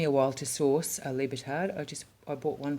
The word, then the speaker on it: libertad: my espanola pronunciation uh but it is libertad not libertad the i in espanol is pronounced e lovely lovely lovely just